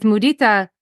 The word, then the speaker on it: mudita: I love that because when I hear that, I think that what we're doing there with mudita, am I saying it right? Hmm. Yes. So with mudita, it's not just joy in other people's joy,